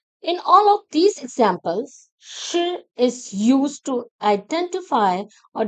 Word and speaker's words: 是: It's pronounced with the fourth tone, a falling tone. Shi.